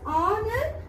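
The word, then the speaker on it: honour: word is honor h-o-n-o-u-r h is a consonant but we pronounce the word as honor meant here the sound is vowel so from this you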